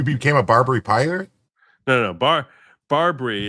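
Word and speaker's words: BarBri: Barbary is spelled BAR/BRI.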